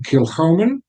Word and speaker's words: Kilchoman: talk about so this expression from kilman the pronunciation kilman um which is uh as it says isa's